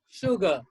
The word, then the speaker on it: sugar: this phonetic symbol this ipa symbol absolutely right sugar sugar sugar yes there's no acid but it